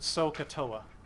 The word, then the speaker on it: SOHCAHTOA: the bottom of your graphic organizer that's we pronounce it sohcahtoa and sohcahtoa means that the sine is the